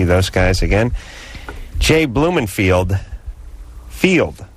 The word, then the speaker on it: Field: And our crack staff here on Loveline had it written on the beat sheet, F-E-L-D. So, of course, I pronounced that Feld, not Field.